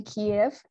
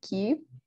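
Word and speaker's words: Kyiv: i know a lot of big museums in kiev um cube yeah proper pronunciation have been using um have successfully moved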